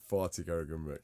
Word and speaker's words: Fatih Karagümrük: Can you pronounce that? Yeah. You know what? Give it a go. It was Fatih. Fatih Karagümrük.